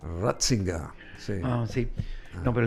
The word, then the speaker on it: Ratzinger: Pronunciate el apellido de Riger en alemán, ¿verdad? Ratzinga.